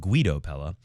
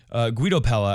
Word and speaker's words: Guido Pella: I've been informed that he pronounces it Guido Pella. Guido Pella, I believe.